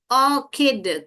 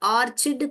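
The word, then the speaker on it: orchid: अब ये देखिए, ऑर्किड, क। ऑर्चिड कोई भी नहीं मेरा बच्चा बोलेगा, ऑर्किड है। बहुत लोग ऑर्चिड करके बोलते हैं इसको। ये ऑर्किड है राइट प्रोनाउंसिएशन।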